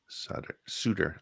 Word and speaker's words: Sutter: said Etc right but it's pronounced like the suitors from the NHL it's German it's German it's German